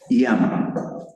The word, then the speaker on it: yama: No, no es no es llama, esama, es una es suave. Ia ia. Lo voy a poner aquí entre yama.